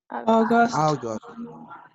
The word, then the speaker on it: August: August. Ajá, como O, como O.